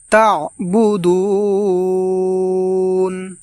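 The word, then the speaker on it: تعبدون: এইভাবে লা আ'বুদু মা, এবং এখানে আমরা মা এই জায়গায় আমরা টান দিয়ে পড়ব, তা'বুদুন, এবং এখানে আমরা শেষে দুন, এই দুন এখানে আমরা টেনে পড়ব, এইভাবে তা'বুদুন।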